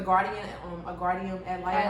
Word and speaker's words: guardian ad litem: And it was just like she was a guardian ad litem.